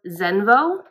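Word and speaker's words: Xenvo: Okay, so I think it's pronounced Zenvo, X-E-N-V-O.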